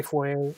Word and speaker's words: foyer: But I say foyer. I don't know. That's just me. Yeah, I mean, I pronounce it wrong. Let's say of, 4 year.